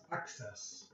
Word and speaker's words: access: And the second C has an S sound. So it's access.